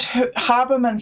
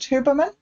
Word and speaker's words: Huberman: one of the things that Haberman said, Huberman, I don't know how you say it. Is it Huberman?